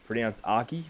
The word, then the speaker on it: Arky: And the reason for Ark, it's actually meant to be pronounced Arky by memory, is Yiddish for, which is my real name.